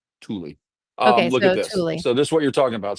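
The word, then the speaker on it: Tule: It's pronounced Tulie.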